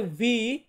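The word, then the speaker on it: vu: তারপর আছে ভি, ভি, এই ভি কে আমরা ইতালিয়ান বর্ণমালাতে উচ্চারণ করব ভু, আগেরটা ইউ এটা আসবে উ, আর ভি এটা আসবে ভু।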